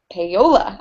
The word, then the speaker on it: Paolo: my awesome assistant ashley and with author theresa payola i can never say your name right i